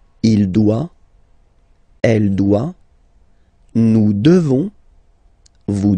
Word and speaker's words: devons: Nous devons. Okay? Classic ending ONS for nous. Okay? You just pronounce this on, on, this nasal. Okay? And then the S, final S is not pronounced.